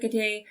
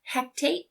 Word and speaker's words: Hecate: They invoke Hecate, but they call her Hecate. They say it wrong.